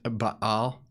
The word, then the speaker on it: Baal: It's pronounced Baal.